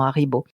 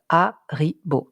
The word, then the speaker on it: Haribo: C'est que c'est un nom qui est composé de 3 syllabes. Haribo, 3 syllabes.